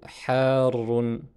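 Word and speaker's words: حارٌّ: Ensuite, al-halibu harrun. Al-halibu harrun qui signifie le lait est chaud. Harrun, vous constatez ici qu'on a une prolongation suivie d'une shadda. Et il est bien important de la prononcer.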